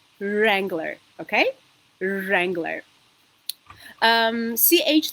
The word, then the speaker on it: Wrangler: mean writing okay so the famous make of the car is um not Wrangler as some Armenians say but it is Wrangler okay Wrangler um CH